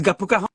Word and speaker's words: Gappu Cajon: Yeah, It's Gappu Cajon. you correct. Your pronunciation is correct.